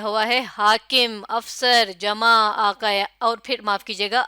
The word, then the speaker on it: آقا: اور قاف سے لفظ لکھا ہوا ہے، پڑھیے آقا، بالکل صحیح، اور آقا کے انہوں نے تلفظ پہلے بتایا ہوا ہے الف مدہ کاف